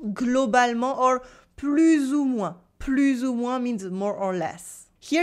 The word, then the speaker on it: plus ou moins: Here you can notice that because I do la liaison in plus ou moins, the S at the end of plus is pronounced z.